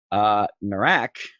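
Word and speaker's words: Nahrak: Narak, because that's how you say his name, is going to multi-attack all over the place.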